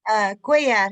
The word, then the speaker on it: Cuellar: The last name is Cuellar? Is that how you pronounce that? Cuellar. It's like quasar Cuellar. without the Z.